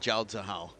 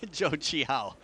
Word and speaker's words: Zhou Qihao: Zhou Qihao. Sorry, not Zhao Zihao. Zhou Qihao. Okay, you just coming back to that. Well, I realized I said it wrong.